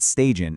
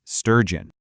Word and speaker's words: sturgeon: Looking at your recording, the 2 big things to nail here are that central vowel sound, and then making sure you actually produce that powerful j sound that kicks off the second syllable. So it's not stagion, it's sturgeon.